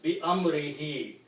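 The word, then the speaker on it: بأمره: And for the pronunciation, we also pronounce this he to make easy on the tongue. So it becomes Bi Amrihi.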